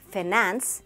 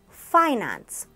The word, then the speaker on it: finance: How would you pronounce this word? Don't say situation, say situation, situation. It's not finance, it's finance, finance.